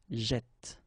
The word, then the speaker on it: jette: And by putting two t like that, then it will open the sound of this e, so you will get jette, okay?